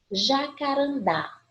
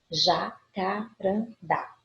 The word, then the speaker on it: jacarandá: E aqui eu tenho palavras polissílabas para fazer a marcação para vocês. Primeiro, Jacarandá. Jacarandá.